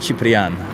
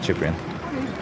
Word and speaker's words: Cyprian: Actually, it's pronounced Cyprian, but, you know, English, Cyprian.